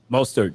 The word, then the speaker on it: Mostert: Mostert? Mostert, yep.